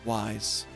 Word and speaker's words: YZ: Ah, so that's why you were pronouncing it wise, rather than just reading each letter.